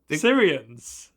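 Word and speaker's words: Cerean: Syrians. Bad name. Weird name. Like Syrian but like spelled like cerebral cortex. Not like Syria, the real world country.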